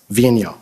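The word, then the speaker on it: Vigneault: name we've all been debating about how to pronounce it properly Vino all right so David Vino he stated that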